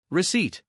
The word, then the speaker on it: receipt: The P is silent. receipt Every day they explored forests, climbed hills, and splashed through sparkling rivers together.